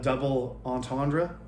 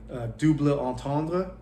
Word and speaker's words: double entendre: This one is called a double entendre, which is a terrible pronunciation of the French double entendre, which means two meanings of something.